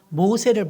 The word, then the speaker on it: 모세: 물에서 건진 자, 그 뜻은 모세스. 한 따라하세요. 모세스. 물에서 건진 자. 자, 물에서 건졌으니까 그대로 이름을 졌어요. 모세스. 영화에 보면 모세스라고 나옵니다. 근데 이게 이스라엘로 가면 발음이 바뀌면서 모세가 돼요.